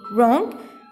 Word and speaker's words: wrong: outgoing watch and wrong here you can see that w is silent so wrong but x on w